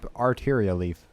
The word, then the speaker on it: Arteria Leaf: It might be supposed to be pronounced arteria leaf, but I always want to pronounce it like Altaria from Pokemon for some reason. It's not spelled that way. It's art, not alt.